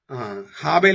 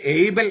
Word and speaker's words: ഹാബേൽ: ഇതെല്ലാം കൊലപാതകത്തിന്റെ മറ്റു ലക്ഷണങ്ങളാണ് സത്യദ ഗ്രീക്കിലും ഹാബേൽ എന്ന് തന്നെയാണ് ഇംഗ്ലീഷിൽ എബൽ എന്നാണ് പലപ്പോഴും ഉച്ചാരണം അബ്ലു എന്ന അക്കാഡിയൻ പഴയ അസേറിയൻ